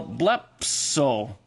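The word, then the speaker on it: βλέψω: square a stops why any stem that ends in a Le when you add a sigma to it you pronounce it as a p so why not write it as a p e so blep so is I will see in other words as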